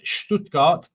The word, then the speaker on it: Stuttgart: Anyway, um also says Redstone, it's pronounced Stoodgart.